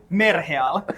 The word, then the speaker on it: Merheal: We haven't discussed how do you pronounce Merheal in English. I think we should just say Merheal. Yeah. Because that is the real way to pronounce it.